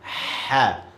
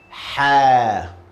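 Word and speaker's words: ح: Ha. By the way, this letter is coming from your throat, middle of your throat. Ha.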